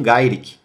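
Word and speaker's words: Garokk: Em inglês, eles pronunciam Gairik.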